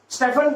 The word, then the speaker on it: Stefan: स्टीफन is incorrect, स्टीफन is incorrect. Having lived in London, मेरे room partner का नाम ही था, his name was Stefan, तो उसको स्टीफन नहीं बोलते, that is Stefan, pronunciation is Stefan। तो स्टेफन Boltzmann law, that is the name। अगर कोई स्टीफन बोलता है तो that is wrong, but it is Stefan